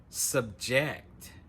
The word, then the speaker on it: subject: So again, the stress is on the second syllable, subject.